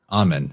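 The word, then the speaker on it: Amun: He is the creative power of Amen, A-M-U-N, or Amen, that's how you say it.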